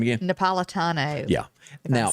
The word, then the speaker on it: Napolitano: yesterday surprisingly dropped judge what's his name again napolitano yeah and then you're saying it right i'm